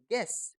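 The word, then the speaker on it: guess: एस पढ़ते हैं और यू को तो पढ़ना ही नहीं है तो क्या बन गया जी यू E double S गेस जी यू ई एस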